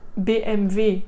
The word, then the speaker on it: BMW: Attention, BMW, hein? Le W, en allemand ça se dit V, revois ma vidéo sur la prononciation.